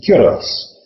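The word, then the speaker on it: Culross: it's spelled c r o but the Scots pronounce it curos it's called The Little brge of Scotland cuz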